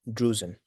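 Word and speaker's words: drusen: This is what we call duen. Duen. Macular degeneration. Can you spell it?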